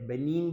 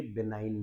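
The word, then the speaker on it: benign: इसको बहुत सारे बेनीन भी बोलते हैं और ये बेनाइन भी है। ठीक है? तो the correct pronunciation for the word is इसमें जी साइलेंट है बेटा।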